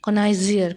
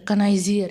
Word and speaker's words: connoisseur: तो उसको क्या कहते हैं, आर्ट and creation is called के कनाइजियर। कनाइजियर, इसको स्पेलिंग रखो, CONNOISSEUR, कनाइजियर, ओके।